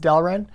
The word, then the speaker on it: Delrin: I believe that's how it's pronounced, Delrin.